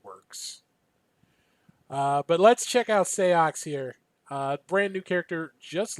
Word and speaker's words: Seox: I'm still, is it Seox? I'm still not sure on the pronunciation here. It's Seox. In Japan, he's just simply known as Six.